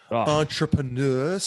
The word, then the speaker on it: entrepreneur: words out there oh you gotta say entrepreneur there's a p-r-e in there so you gotta get a little french um i found out it